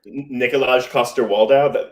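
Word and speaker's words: Nikolaj Coster-Waldau: um i'm gonna butcher it how do you pronounce the game of thrones actor uh nikolai koster whatever nikolaj koster waldow that's what i said yes exactly so that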